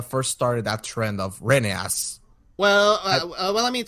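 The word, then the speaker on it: Rheneas: friend he says that the correct way to pronounce Renaissance name is renas like like Russian and Morris said it but you know to make it easier we're just gonna call him uh Renea so the way we're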